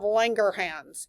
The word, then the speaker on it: Langerhans: This is in your islets of Langerhans. You got to say it like you have a German accent.